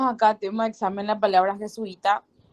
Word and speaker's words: jesuita: tiene tres sílabas y donde se carga la voz la última la segunda en la última se carga la voz en la penúltima que sui jesuita nuevo punto jesuita entonces